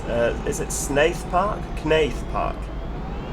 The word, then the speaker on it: Knaith: is it snath park knaith park nath i imagine that's probably you know like ninth it's probably a silent k isn't it yeah nath park now that could